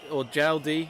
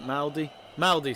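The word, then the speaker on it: Mjelde: But yeah, Eriksson playing as a defender, and Jaldi, is that how you pronounce it? Maldi, sorry, even though it's got a silent J.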